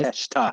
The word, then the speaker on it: Konosuke Takeshita: We have, I've been practicing this, Konosuke Takeshita. Very nice. Takeshita, I said it right.